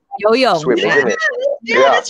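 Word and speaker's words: 游泳: Yo-yong. Yo-yong.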